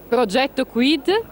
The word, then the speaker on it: Progetto Quid: For the Italians, I say it Progetto Quid. .it. Now I spell it for the non-Italian.